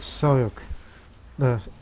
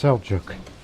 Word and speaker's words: Seljuq: instead they're the great soy yogurt for them it's pronounced seljuq the great seljuq and